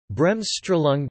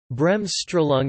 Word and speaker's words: Bremsstrahlung: Bremsstrahlung, German pronunciation, Bremsstrahl, listen, from Bremsen, to break, and